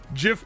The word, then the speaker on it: GIF: It's GIF with a hard G.